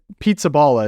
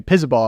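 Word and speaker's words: Pizzaballa: uh it's pure Batista pizzala is what we've been jokingly say pisal I believe is closer to the actual pronunciation Erica can correct me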